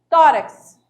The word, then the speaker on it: tórax: Tórax. Então, você já está, até porque ela veio acentuada, então, obrigatoriamente, você tem que fazer a pronúncia forte, né? No timbre aí elevado.